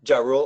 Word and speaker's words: Ja Rule: Ja Rule. Oh, that's the way to pronounce it?